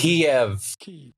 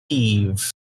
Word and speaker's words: Kiev: Kiev, not Kyiv. I can't stand that shit. It's not even just like a weird local pronunciation. It's how the word is written. You might even say it like that way if it was an English word.